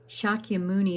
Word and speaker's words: Shakyamuni: Shakyamuni is the name given to the Buddha after his enlightenment.